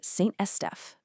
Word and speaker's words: Saint-Estèphe: Let's get the pronunciation right, because it's key. We've got Margaux, Saint-Julien, Pauillac, and Saint-Estèphe.